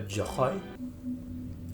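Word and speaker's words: Joi: university an emanator joy it's pronounced a joy oh she doesn't even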